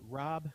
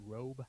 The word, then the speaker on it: Rob: Rob, it's not Robe. It's Rob.